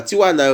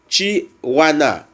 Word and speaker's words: Chihuahua: Et en pile moun, et en pile haïtien qu'on a prononcé que c'est Tijuana, et bien c'est pas Tijuana, on dit, c'est Chihuahua.